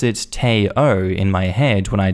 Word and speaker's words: Theo: and have a friend whose child is named theo pronounced teo her husband is not